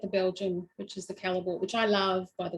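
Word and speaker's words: Callebaut: We've got problems with pronunciations tonight. Anyway, it's Calabo. Sorry, what? It's Calabo.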